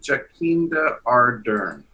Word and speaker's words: Jacinda Ardern: Jacinda Ardern.